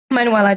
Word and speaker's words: Manuela: All right, so guys, in recap of what Manuela just shared with us, am I pronouncing it correctly, Manuela?